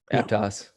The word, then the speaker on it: Aptos: I don't know how to pronounce the name of this town. Aptos? Aptos.